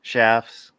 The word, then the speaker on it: chaps: sorry um robert moore i know they're pronounced shafts but everybody knows them some chaps so i say chaps just so everybody knows what we're talking about yeah city people uh